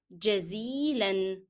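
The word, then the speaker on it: جزيلًا: another word which is jazilan. Shukran, jazilan. And both words has to be pronounced with an and never drop any of them.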